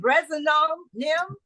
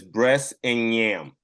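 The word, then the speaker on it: Bress 'n' Nyam: And if we're asking you to, Chef Matthew, to pronounce the title of is it Brezinom? It is breast and yam.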